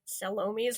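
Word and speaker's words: Salome: really want to descri I really want to say salom's last stance because that's how they say it in the movie and I don't know if that's a British thing it's very funny that it sounds like salami very russle um if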